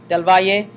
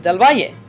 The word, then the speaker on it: Del Valle: school in New York, it was pronounced as Del Val. And I grew up pronouncing my last name as Del Val until I got into college, and professors started pronouncing my name as Del Valle. And of course, that is the correct pronunciation of my last name.